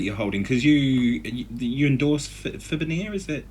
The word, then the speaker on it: Fibenare: So tell me about this beautiful guitar that you're holding, because you endorse Fibenare, is that how you say it? Yeah, Fibenare in Hungary.